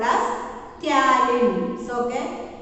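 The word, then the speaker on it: ptyalin: That is called as salivary amylase, otherwise called as taurine. So okay, P is silent there, taurine.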